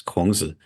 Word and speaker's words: Kongzi: I think the audience has heard us use the Mandarin pronunciation for the Chinese terms Kongzi and Mengzi. So that's Confucius and Mencius in Mandarin Chinese.